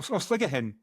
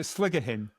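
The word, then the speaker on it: Sligachan: Oh, sligger hen. That is that how you pronounce it? I really Well, that's how my colleague Ruth who speaks GA pronounces it sligger hen.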